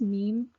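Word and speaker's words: ميم: So this letter name is Meem, and the phonetic sound is ma. And it's similar to the English M.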